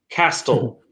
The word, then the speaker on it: castle: You don't pronounce a T when it's hard to pronounce in a word. Castle is harder to pronounce than castle.